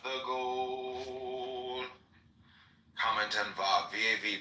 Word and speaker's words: Vav: Comment on Vav, V-A-V, pronounced Vav, Vav.